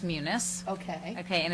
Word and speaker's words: Munis: It's pronounced Munis.